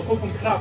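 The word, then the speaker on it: ขอบคุณครับ: Kopung Krab or Kopung Krab actually more accurate. Krab. K-R-A-B. Or is it K-R-U-B? There's an R actually. Well, most of them can't pronounce the R. So they say Kopung Krab.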